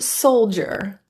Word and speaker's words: soldier: The D in soldier is actually pronounced as the J sound, j, which is an affricate, meaning it has two different sounds. One is a D and the other is the j. So technically the D is still there.